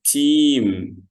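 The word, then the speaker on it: team: أي حاجة، يبقى اسمهم تيم. ها، ثانك يو، شاطر. اسمه ايه؟ تيم. تيم. جدع. اسمه ايه؟ تيم. انك خد بالك، انت فاكر ان الاي والاي بيتنطقوا اي طويلة، فاحنا نقول تيم.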